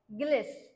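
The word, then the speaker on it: guileless: okay so next word बघूया next word आहे गलेस जी य आय एल L double S या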